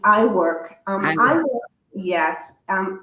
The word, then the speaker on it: IWIRC: And what about the new group the I think u well it's IWIRC but I think there was an acronym that I'll probably not pronounce properly. It's I work.